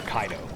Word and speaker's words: Caedo: That's when I first used the name or Kaido as it's actually pronounced or supposed to be pronounced I should say.